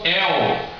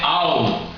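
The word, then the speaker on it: אל: Eles transliteraram como El, mas El também é um título erroneamente traduzido. O título, na verdade, é Al, que se escreve assim. Por quê? No hebraico está assim, escrito com a letra Aleph.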